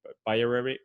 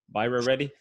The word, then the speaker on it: Byrareddy: to run so uh doctor bayern but uh sorry viral ready did i say it right yeah all